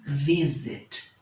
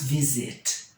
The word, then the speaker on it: visit: Como é que nós pronunciamos? Nós falamos visit, nós não falamos visit.